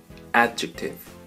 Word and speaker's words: adjective: En inglés, adjetivo se pronuncia adjective. Adjective. Para pronunciar correctamente esta palabra intenta simular un pequeño estornudo o el sonido de la letra ch de manera suave en adjective.